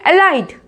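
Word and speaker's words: alight: देखो जीएच के बाद कौन सा वाउल है? आई है, तो बोलेंगे एलाइट, एलाइट।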